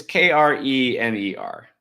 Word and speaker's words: Kremer: It's Kramer, but Kramer. Kramer? It's Kremer. I don't know how you say it. Okay. Like Krispy Kreme, but with an R.